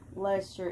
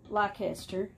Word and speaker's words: Leicester: blue face lester it's if you look at the word lester it's not spelled the way that it's pronounced like even close when i first heard